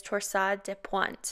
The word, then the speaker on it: torsades de pointes: this one the proper pronunciation of torsades it is actually of french origin so it is torsa de pointe and it translates into